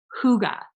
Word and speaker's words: Hygge: I've heard all kinds of different things, but in Nordic countries, it is pronounced Hygge. It is so fun. If you've never said the word out loud, say it out loud wherever you are right now. Say Hygge.